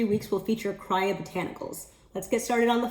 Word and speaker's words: Kriya Botanicals: The brand is pronounced Kriya Botanicals per their website, not Kriya Botanicals like I've been saying for over a year.